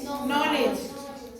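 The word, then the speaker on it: knowledge: के एन ओ डब् एल डी जी क्या हो गया य क्या नलेज नलेज में के के बाद क्या आया आया तो हम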